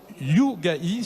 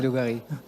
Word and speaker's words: Lougari: Alors on commence par notre premier intervenant, c'est Yougahi, c'est ça? Voilà, qui vient du Maroc. J'ai bien prononcé, non? C'est pas ça? Oui, c'est ça, c'est Lougari.